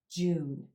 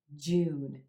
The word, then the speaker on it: June: the month of May June June another single syllable month that's often pronounced really quick and short like Jude Jude you want to hold that Oh as in blue sound a little bit longer June June that in